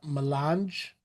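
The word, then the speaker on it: melange: Uh the most valuable substance in the universe as that pronounced milange.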